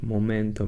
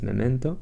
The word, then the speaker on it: Memento: design pattern named Moto I would like to say it like momento but no it's momento it's very useful in